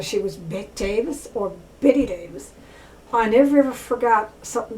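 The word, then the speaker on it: Bette Davis: She always spelled her name B-E-T-T-E. So I always called her Bet Davis. But apparently she's known as Betty Davis.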